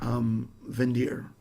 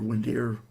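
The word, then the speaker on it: Windir: parallels between this in vin deer or when deer want to pronounce it whether you want to know the more germanic pronunciation or not but when deer and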